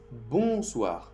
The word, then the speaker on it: bonsoir: La primera para saludar se dice bonsoir. Bonsoir. Lo mismo, cuando tú ves O y N en francés, hace el sonido sonido con el nariz dentro. Bonsoir.